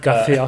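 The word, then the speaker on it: García: say his full name, but the only part that I say in a Spanish accent is Garcia.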